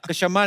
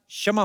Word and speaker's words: क्षमा: कशमा नहीं, क्षमा होता है।